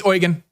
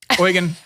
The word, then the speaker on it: Eugen: know like the fourth one she's like it's Oregon Oregon I'm like oh I've been pronouncing it wrong all this time so apparently it's Oregon diesel but it's spelled as though if you're